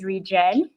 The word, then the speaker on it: ReGen: Yeah, you pronounce it correctly. It's ReGen.